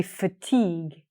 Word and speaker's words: fatigue: But we say fatigue.